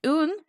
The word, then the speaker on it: uan: And then un is a lamb, our lamb, our nuan, our nuan.